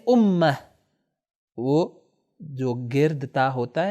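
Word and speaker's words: أمة: امت آخر میں یہ جو تائے گرد موجود ہے، اسی لیے اگر یہ امت اس کے آگے کوئی ورڈ نہ ہو تو عربی میں اس کو تلفظ کریں گے امہ.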